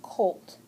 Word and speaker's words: colt: that's a baby horse we're going to box this cuz this o is long so it gets a Acron okay it's long and then it's a still a closed syllable cuz that L and T is closing in the vowel but you put a x it's mean that means exception to the closed syllable rule because the O is long and normally they're short okay all right so number